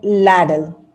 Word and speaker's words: ladle: It's called as ladle, right? Ladle. E is silent, ladle.